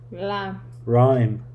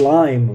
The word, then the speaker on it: rhyme: Rhyme. Not lime. Rhyme. Lamb. Rhyme. R. Ruh. Ruh. Ruh. No. Ruh. L. Not L. Ruh. L. I know it's the hardest thing for Asian speakers. It's the pronunciation of the R.